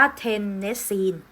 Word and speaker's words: เทนเนสซีน: 7 นะ คะ เรา จะ อ่าน ว่า ว่า เทนเนสซีน นะ คะ ส่วน ธาตุ หมู่ 8 ตรง นี้